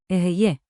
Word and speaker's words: אהיה: Ehyeh.